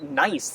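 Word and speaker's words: gneiss: foliate um metamorphic rock nice you know it's spelled g-n-i-e-s-s but you're supposed to pronounce it nice like you're being nice to someone like i never understand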